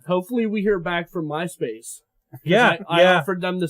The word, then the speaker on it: Myspace: the underscores yes so how do we pronounce that my no it's Myspace still okay the underscore represents a space okay breaking it down